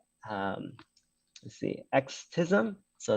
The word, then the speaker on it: Extism: It's a library slash framework called, let's see, Xtism. So it's spelled EXTISM.